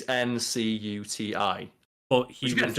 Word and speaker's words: Ncuti: his mum of like, your name's not Chuti, you're pronouncing it wrong. Like, it's like Ncuti or Ncuti, is it? Yeah, it's Ncuti.